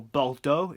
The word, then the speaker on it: Bordeaux: next up we have Bordeaux or Balo if I'm going to say it properly and Balo is non-